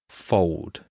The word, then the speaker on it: fold: We do not say fold. We say fold. It becomes an old. Old like a w fold. Fold. It's a little bit lazy, but that is the common way that you pronounce a word like this. Fold. mold, cold. It's got that O sound.